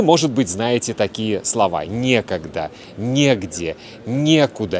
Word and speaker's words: некогда: Вы, может быть, знаете такие слова: некогда, негде, некуда и так далее. Ударение обычно падает на е. Некогда, негде, не с кем, незачем.